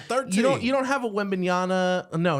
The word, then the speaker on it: Wembanyama: Yeah, it's Wembanyama.